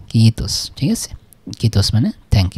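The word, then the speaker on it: kiitos: তাই না এই উচ্চারণটা কিন্তু হবে আই এর উচ্চারণ ই হয় তাহলে ডাবল থাকার কারণে ডাবল মত মানে কি কিস কিস ঠিক আছে কিস মানে থ্যাংক ইউ ঠিক আছে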